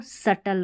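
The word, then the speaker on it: subtle: अब इसको सटल पढ़ना है। बी साइलेंट है।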